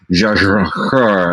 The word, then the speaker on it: Jia Zhangke: I could do the give my shot at the proper Mandarin pronunciation. It's like Jia Zhangke, and there's a whole thing that you do.